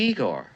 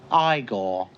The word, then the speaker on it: Igor: it's frederick frankenstein i see you must be igor now it's pronounced igor but they told me it was igor well they were wrong then weren't they uh